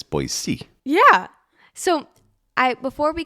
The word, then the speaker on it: Boise: a local now yeah it's not boy Z it's boy c yeah so I before